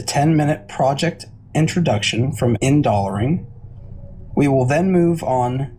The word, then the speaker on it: Indolering: So first of all, it's pronounced Indolering, which is minor.